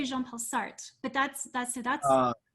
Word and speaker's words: Sartre: um somewhere that uh and so you you pronounce his name is sartre like i always say jean-paul sartre but that's that's so that's correct is it